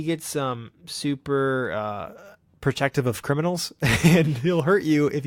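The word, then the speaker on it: Kriminel: as the name but it's Kri mi ne L it's like a phonetic criminal so barren criminal he gets some super protective of criminals and he'll hurt you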